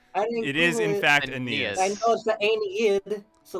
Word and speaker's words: Aeneas: if you're gonna google it also google the pronunciation it is in fact aeneas so like it's probably the abs right i'm